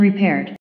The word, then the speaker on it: repair: Thứ nhất, cái từ này trọng âm nó sẽ rơi vào âm tiết thứ hai, cho nên từ này nó phải đọc là re. Đấy, nếu mà trọng âm rơi vào nó thì mình sẽ đọc là re. Được chưa nhỉ? Nhưng vì trọng âm rơi vào âm tiết thứ hai, cho nên ở đây nó lượng thành re và pair nó là air. Air. Cho nên cái nào đọc là repair.